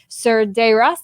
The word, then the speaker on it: Cerdeiras: This is Mary Cerdeiras. Did I say it right? Yes, did I pronounce you it right? You did. Perfect.